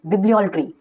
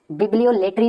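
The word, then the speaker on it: bibliolatry: बिब्लियोल्ट्री, बिब्लियोलेट्री नहीं बोलना है, बिब्लियोल्ट्री।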